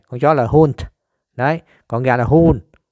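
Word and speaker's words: Hund: Nó phát âm giống giống con chó ha. Nhưng mà nó hun. Con chó là hunt.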